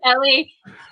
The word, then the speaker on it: ili: No, it's Ellie. Ellie, right. Like pretend you're saying M, then Ellie.